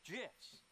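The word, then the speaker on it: GIF: the graphics interchange format Steve Wilhite says it's jiss choosy developers shooting Oh ah don't even it's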